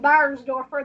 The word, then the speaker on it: Beiersdoerfer: into your experience okay my name is burnsdorfer that's why you can't pronounce it nobody can spell it either german